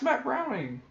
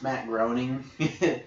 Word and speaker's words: Matt Groening: million I don't know ask Matt browning whatever the creator of Sampson's I like his name and the Halloween specials did you know it's Matt Groening yeah which as you because I believe that's